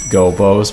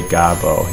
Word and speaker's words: Gobbos: of the gobos and I think that's probably how they're pronounced gobos but I always just say gazo you know I've always said God oh and I know it's gonna be like a gist or Jeff thing but I get it I know I'm saying it wrong but whatever so